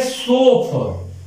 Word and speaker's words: chauffeur: इसका स्पेलिंग ठीक से, ये है सोफर, CHAU, जो बड़े बड़े धनी लोगों की जो